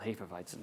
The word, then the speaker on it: Hefeweizen: have a pale ale, it would have a Hefeweizen or however they pronounce it. It's supposed to be called Hefeweizen, by the way, et cetera.